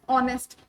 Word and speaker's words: honest: So, explanation honest begins with a silent H producing a vowel sound, an honest officer.